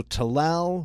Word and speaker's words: Talal: Okay, so Talal rhymes with Kalal.